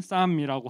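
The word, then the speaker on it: Psalm: 다음 화면 보여주시면 이제 영어로는 쌈이라고 하죠. 이제 앞에 P를 묵음으로 하더라고요.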